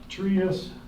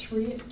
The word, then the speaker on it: Trius: Trius. Trius, T-R-I-U-S. They're out of Allentown. I think that's how you say it, or it's Truist, maybe, Trius.